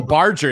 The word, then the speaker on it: Barger: the big strong kid Vargas Vargas how do you say his oh Barger yeah Addison Barger home running